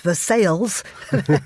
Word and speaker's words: Versailles: There's an amazing restaurant there called Versailles, although it's it's pronounced Versailles, which is fantastic.